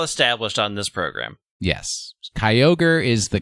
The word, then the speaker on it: Kyogre: pronunciation of Kyogre is Kroger we all know this this has been well established on this program yes Kyogre is the correct answer it is a kai and an ogre I love ogres I